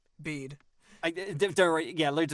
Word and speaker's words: Bede: Is it Bede? Am I a pronouncing his name right? bead.